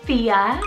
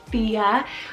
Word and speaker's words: Thea: spanish rooted meaning island next up i have fia spelled t-h-e-a fia this is kind of gonna be this next